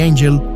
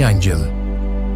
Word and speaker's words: Angel: piloto estadounidense llamado Jimmy Angel surcaba los cielos del sur de Venezuela. Jimmy no buscaba ángeles ni santos y su apellido se pronunciaba en inglés, no en español.